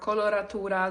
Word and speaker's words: coloratura: A color soprano or koloratura depending on how you want to pronounce it is the highest voice type we have in the classical music world.